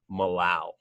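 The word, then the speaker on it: molal: point five one five Millau that's how you say it Millau and then finally what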